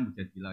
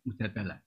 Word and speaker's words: Mujadilah: Yang benar itu bacanya mujadilah yang level A. Tapi umumnya orang baca apa? Mujadalah.